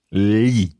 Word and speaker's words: gli: The li sound is pronounced slightly differently in different parts of Italy. Would that be fair? It is, yes. So it's sometimes more li and sometimes more li. Different, Yes. slightly different pronunciations.